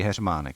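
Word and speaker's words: heřmánek: Henry today right so kamile uh we say h manic which is something that must be hell to pronounce for English speaking people because this one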